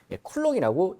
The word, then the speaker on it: 쿨롱: 요 C라고 읽으셔도 되는데 여러분 우리 이제 전공자니까 비전공자에서 전공자가 돼가고 있지 않습니까? 비전공자는 단위가 C인데요? 이렇게 이야기를 할 거라고. 근데 우리 이제 전공자가 되는 거니까 쿨롱이라고 읽어주시면 좋을 것 같아요.